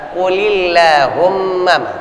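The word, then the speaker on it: قل اللهم: Qulillahumma. Enggak dibaca tebal. Qulillahumma. Enggak. Kecuali berdiri sendiri. Allahumma tebal. Karena ada kuli, lamnya kasrah, langsung Allahumma lafzul jalalah dibacanya dengan tipis.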